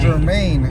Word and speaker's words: germane: Germane. Now this is 2 syllables and the stress is on the second syllable.